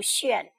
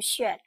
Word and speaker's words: 旋: 这个盘旋的旋也是多音字，还可以读旋。什么时候读旋呢？